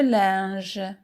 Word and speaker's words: linge: Je repasse le linge. Je repasse repasse repasse le linge. Le linge. Les lettres i n se prononcent.